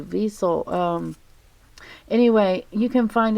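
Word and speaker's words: Wiesel: by eli diesel it's spelled with a w vessel um anyway you can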